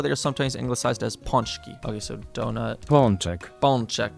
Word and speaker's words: pączki: So Polish donuts are called pączki and have recently become trendy in the Western world, where they are sometimes anglicized as pączki. Okay, so donut. Pączek. Pączek, okay. Pączki must be the plural.